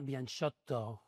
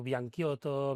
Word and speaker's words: Bianciotto: Crec que es pronuncia una cosa com ara Bianchotto. Bianchotto. Sí, la doble T marcada Molt bé. i Bianchotto, sí. Clar. Però bueno, molta gent en diu Bianchiotto, Bianchotto, Bianciotto, No, clar.